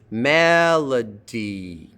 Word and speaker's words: Melody: Melody, 3 syllables. L is in the middle and it's unstressed. Melody. Like that.